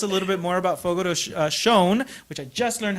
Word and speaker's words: Fogo de Chão: She's going to tell us a little bit more about Fogo de Chão, which I just learned how to pronounce.